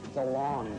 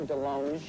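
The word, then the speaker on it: DeLonge: at Gary's chicken and ribs I and Tom Delong but it should be Delong cuz I went to France and they said you're pronouncing it wrong I'm along is a your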